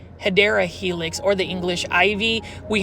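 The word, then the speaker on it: Hedera helix: 1 2 3 Helix or the correct way to say it guys, say it with me. Hideera helix or the English Ivy.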